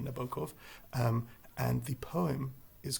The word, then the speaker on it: Nabokov: I think in English we tend to put the stress on the first syllable of someone's name, so we say Vladimir, and I think it's Vladimir is the preferred Russian, and Nabokov rather than Nabokov.